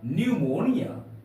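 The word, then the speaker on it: pneumonia: प्रयोग किया गया है इसलिए यहां पर पी साइलेंट है तो इसका उच्चारण होगा पिनोम नहीं होगा न्यूमोनिया नमो यह प साइलेंट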